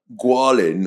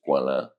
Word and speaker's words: Goualin: So it's like um it's French and um the uh the French pronunciation is guala. Mhm. Um, but the English pronunciation is Gualin, which is so much uglier.